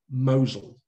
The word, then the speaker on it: Mousehole: is spelt mousehole but it's pronounced locally mosul like mosul in syria and it means in